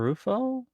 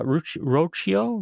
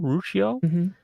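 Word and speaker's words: Ruocco: Oh, uh the current series I'm reading is by Christopher Rufo. Is that how you say his name? Uh Roio. Roio.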